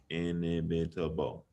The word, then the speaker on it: inimitable: How many syllables does imitable have? Can you all guess and figure that out? Inimitable. So I'm counting 5 syllables. Inimitable.